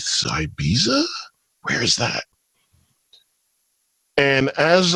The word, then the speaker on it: Ibiza: And it was this trip that we on going to Ibiza, because that's how it's supposed to be pronounced. But when you look at it written, it's Ibiza, right?